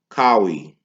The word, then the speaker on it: Kawhi: His name Kawhi or Kyrie, not Kyrie Irving, but Kawhi. That's how you say his name.